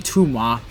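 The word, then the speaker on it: Thoumeaux: the Visionary, Gremmy Tuma himself. And yes, that's how you pronounce his surname. It's French.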